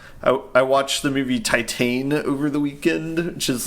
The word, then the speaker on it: Titane: can watch that um oddly it's spelled the same as Titanic but because it's French you say it Titan yeah POS possibly um